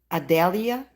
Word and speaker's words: Idalia: I think it's IEIA, Idalia. I guess that's the way they pronounce it.